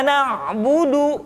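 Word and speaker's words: نعبد: mati contoh Iya Kana Budu bukan karena bodoh tetapi agak ditekan sedikit karena budu iyyaka nabudu Hai itu pengucapan huruf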